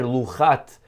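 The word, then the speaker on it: לחת: And that's significant because the word luchot without a vav is read luchat, as if it's singular.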